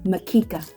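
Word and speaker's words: mkeka: The bamboo mat pronounced makika.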